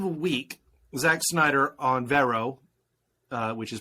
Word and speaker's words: Vero: Over the course of a week, Zack Snyder on Vero, which is pronounced like Mera from Aquaman, was dropping these pictures from his version, from Zack Snyder's Justice League, one a day.